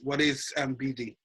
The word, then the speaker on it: Bidii: And again, just letting us and letting the viewers know, BD, what is BD, and am I pronouncing it right?